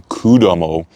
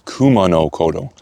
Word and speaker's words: Kumano Kodo: So it's not, I was saying Kudamo, it's Kumano Kodo.